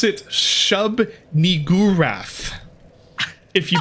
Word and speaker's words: Shub-Niggurath: You pronounce it Shub-Niggurath.